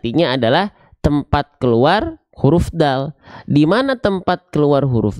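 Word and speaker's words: دال: seperti ini tuh kelihatan jadi ujung lidah kita kita sentuhkan ke Pangkal gigi serari atas kita gigi serari atas kita punya gusi gusi tempat tumbuhnya itu ditempelin pakai ujung lidah kita Iya nah ini huruf Dal da di du AD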